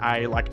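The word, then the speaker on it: Ellie: We don't really hard pronounce the e. We kind of pronounce it like it's an a like ali.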